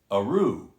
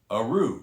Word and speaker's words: Athrú: whiskey is e-t-h-r-u pronounced aru aru so that t-h is silent and the distillery is